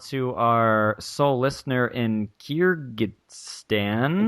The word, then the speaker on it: Kyrgyzstan: Also, a special shout-out to our sole listener in Kyrgyzstan. It's Kyrgyzstan, Dean. Charlie, our resident expert in all things pronunciation.